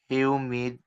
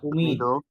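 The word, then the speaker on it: humide: ফ্রে, ফে এ এ, হিউমিড, হিউমিড না উমিদ এই সাইলেন্ট উমিদ, উমিদ, আচ্ছা, ইভেক মানে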